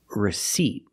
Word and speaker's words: receipt: receip but receipt and remember the p is silent don't pronounce that P receipt this is a